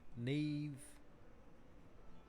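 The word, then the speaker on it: Niamh: ] his name because that's not how it's spelled Neve Fitzgerald it's more like a drunk man forgetting how to spell and uh never mind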